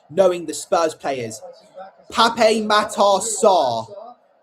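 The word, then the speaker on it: Pape Matar Sarr: Pape Matasar. I think that's how you pronounce his name. Pap Matasar, that's how you pronounce it.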